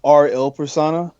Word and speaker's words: R:IL Persona: is cereal it's pronounced RL persona RL yeah they'll like the Italian word for the it's a the name